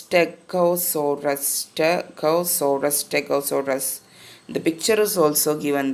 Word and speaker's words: Stegosaurus: Let's see how it's pronounced. It's Stegosaurus.